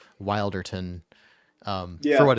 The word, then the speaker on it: Wilderton: know I was asking is this wilderton or wilderton um and you said wilderton and that's good to know that that's the official pronunciation because I've probably been spreading around the wrong one I think the funny